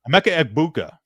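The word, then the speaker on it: Emeka Egbuka: Uh a mecha like a mecha Okafur. and then Eggbuka. Amecha Eggbuka.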